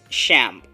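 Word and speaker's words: XAMPP: but not the least is shamp that is spelled as XA MPP and this is a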